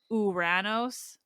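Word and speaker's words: Ouranos: kyries I remember that my Prof pronounced it uranos to make it not sound like the planet Uranus in North America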